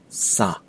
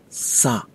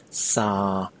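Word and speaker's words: စား: it out as in sa that is not the verb to eat either it is something else you have to pronounce the verb to eat as if you're calling out somebody to get their attention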